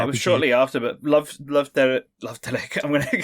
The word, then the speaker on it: Love Delic: spaces for each syllable, I think it is supposed to be kind of like Love Delic. In short, you can pronounce it Love Delic or Love Delic or Love Delique. Anything is okay. Listeners, you can pronounce it however you want, and I'm sure we will pronounce